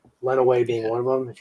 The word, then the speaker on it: Lenawee: those into us Ryan is the county pronounced Len away or Lenawee let away run away okay that's what I thought because I know Chandler and Alex were saying Lenawee earlier and I was like I don't remember being bad I think it's went away yeah we pronounce it went away yeah from all the